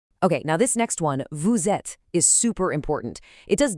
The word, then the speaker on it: vous êtes: It's called a liaison. The S from vous links up to the E in ets, so it sounds like one smooth word, vous êtes.